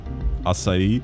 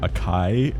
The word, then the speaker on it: açaí: Açaí is great, but usually people who don't speak Portuguese end up pronouncing acai.